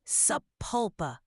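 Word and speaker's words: Sapulpa: how do you say that that would be saula okay got to love those all right then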